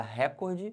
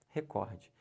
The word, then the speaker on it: recorde: o meu recorde recorde se você falar recorde você tá errando o certo é recorde primeiro como é que